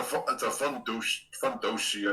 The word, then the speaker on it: fundoshi: I mean, it's a fundoshi, I think is how you say it.